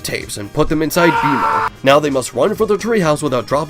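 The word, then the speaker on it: Bemo: In celebration of him getting his own show, let's talk about Beimo Blitz. Spelled like B E M O for some reason.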